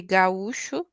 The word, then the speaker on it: gaúcho: So we would say gaúcho, and it's gaúcho.